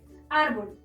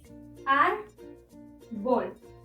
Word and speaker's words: árbol: La sílaba tónica o que suena más fuerte se encuentra en ar, es decir, la penúltima sílaba. Y como no termina en N, S o vocal, debemos colocarle la tilde.